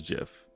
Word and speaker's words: GIF: but the answer is Jeff um the guy who made it said that's how you pronounce it so I mean that's just kind of what it is but obviously no one's GIF has become probably more